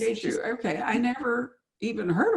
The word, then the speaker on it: Jeju: And, I never even thought about, is it Jeju? I don't know how to pronounce it. Jeju. Yeah, just Jeju.